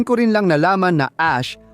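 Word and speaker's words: Æ: At doon ko rin lang nalaman na Ash ang bigkas ng AE matapos kong mapanood si Elon Musk sa podcast ni Joe Rogan na ipinaliwanag niya ito.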